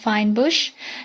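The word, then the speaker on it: fynbos: This area is also known as Finnbos pronounced fine bush a characteristic shrubland characterized by small hard drought and fire resistant shrubs with pota being one of the dominant components.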